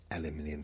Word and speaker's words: aluminium: Aluminium is the correct way to say that.